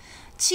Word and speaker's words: ㄐ: Ti is like a genie without the knee.